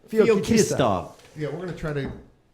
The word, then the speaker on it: Feoktistov: Feoktistov. There you go. That's phonetically. Feoktistov.